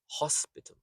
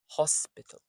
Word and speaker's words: hospital: Horse is a stressed word with the O. And then p. P. The i in hospital is the unstressed syllable and so is the a at the end. So you have hospital. hospital. Notice that these unstressed bits turn into a quick schwa sound, a very quick soft sound.